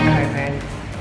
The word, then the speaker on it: Cockburn: So Coburn is a suburb halfway from Mandurah to the airport, and you'll see Coburn, which is actually spelled Cockburn, but pronounced Coburn, and take that turn off and find Haruki.